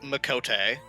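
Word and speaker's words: Miqo'te: the pronunciations on the characters if I'm not pronouncing them correctly so for the cat girls you're right it is makot okay uh AA was correct for the dragon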